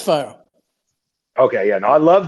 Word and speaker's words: 5ire: now the fire chain it's fire it's from pronouncing that right right fire yeah it's fire okay yeah now I